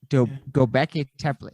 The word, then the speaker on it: Göbekli Tepe: Like and the other part, Göbekli Tepe, I think is how you say it, in Machu Picchu. Göbekli Tepe. Göbekli Tepe.